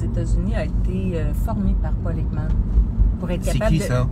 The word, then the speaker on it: Ekman: Paul Ekman, c'est un chercheur, en fait, c'est un des pionniers dans l'étude. Comment ça s'écrit? Paul Ekman, E-K-M-A-N. E-K-M-A-N. OK. Puis Paul comme P-A-U-L.